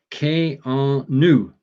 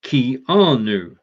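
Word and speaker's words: Keanu: today i found that canoe first name is pronounced k-r-new not key r nu that isn't the only misconception surrounding his name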